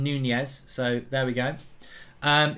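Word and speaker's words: Núñez: do Darwin Nunez today yeah like lasagna it's Darwin Nunez so there we go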